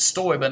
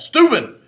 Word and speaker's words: Steuben: Some people tell me you pronounce it Steuben. I don't like that. Steuben, tough sounding, manly.